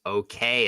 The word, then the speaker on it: OK: Wouldn't you think if okay should be in the dictionary, it should be pronounced O, but um instead it sounds kind of like an acronym.